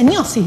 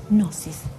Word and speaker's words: Gnosis: Se pronuncia Gnosis, ¿no? La G con la N, ¿no? Ajá. A ver. Claro, parece como si fuera gnomo, sí.